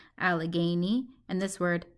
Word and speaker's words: Allegheny: I pronounce that word al gay nee allegheny and this word pull